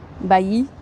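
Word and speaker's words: Bayeux: It's like Bayou. Bayou. I don't know how to write it phonetically. Bayou. Bayou. Bayou. Bayou. This is a good stream segment. I can go around asking locals, how do you pronounce your city? Bayou. Born on the bayou. Do it, do it. Bayou. There's no R.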